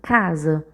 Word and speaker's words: casa: Observe que quando a gente chama, a gente demora mais na sílaba K.